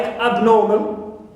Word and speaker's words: abnormal: not the prefix AB I have also the prefix AB like abnormal absolve so here AB is neutral no stress on it clear stress is on nor also on uh solve or solve right also I have